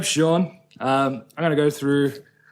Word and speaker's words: Sean: Or pronounce it as Seen. San, Seen, Shane. No, I don't know why I get Shane. There's no SH in it. So I'm Sean.